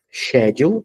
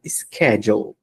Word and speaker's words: schedule: Esse verbo tem duas leituras, né, duas pronúncias. Schedule, ou se não, schedule.